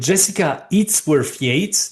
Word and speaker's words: Jessica Yates: Hi, I'm here with Jessica Yates. Did I pronounce it correctly?